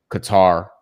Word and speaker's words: Qatar: Group A is Qatar. I believe Qatar is the proper way to say it, but I don't sound good saying it. It's just I'm just gonna say Qatar, bro. We're gonna cutter that out of here, you know.